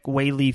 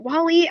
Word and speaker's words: Weili: So I was going for is it Wally? I always say her name wrong. Weili. Weili, yep.